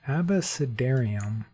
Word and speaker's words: abecedarium: It's abecedarium, not abyss. Oh, abecedarium, just like you're starting to say the alphabet.